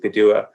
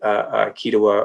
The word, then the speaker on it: Kituwah: go to Anigiduwah and pronounce it like with a G instead of a K.